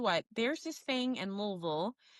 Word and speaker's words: Louisville: I also want to shout out the fact that you said Louisville, which is the correct ter uh correct pronunciation of the city.